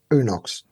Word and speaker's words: Unox: So Wayne, can you tell me the correct pronunciation for your business? UNOX.